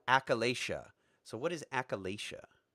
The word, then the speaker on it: achalasia: I cannot pronounce so I'm going to mangle it Achille Asia it's achalasia achalasia so what is a